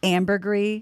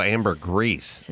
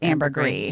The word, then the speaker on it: ambergris: i thought it's called amber grease well it has an s but i think it's pronounced ambergris that was like french or something yeah so like pinot gris i saw a master